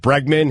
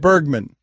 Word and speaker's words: Bregman: went to the 10th inning and is it Bregman he hit a walk-off home is that is